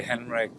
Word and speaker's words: Henrik: pronounce that correctly uh normally you would say henrik but uh heinrich is german it's also fine rick vibsco all right